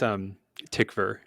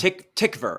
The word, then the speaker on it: Tykwer: I think it's Tykwer, like a V sound. Tykwer.